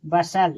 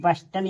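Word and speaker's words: bustle: टी यहां silent है बी यू एस टी एल ई बसल इसे बसल पढ़ेंगे नहीं कि बस्टल या बुस्टल नहीं पढ़ेंगे इसे बसल पढ़ेंगे यहां टी साइलेंट है सी ए एस टी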